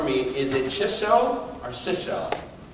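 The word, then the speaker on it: Chisso: This company, and I'm not sure, maybe somebody from Japan can pronounce this for me, is it Chiso or Siso? Chiso.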